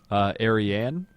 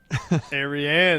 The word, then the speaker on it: Ariane: Ariane? Ariane. That's how we're going with it. I called it the Arian rocket all day today.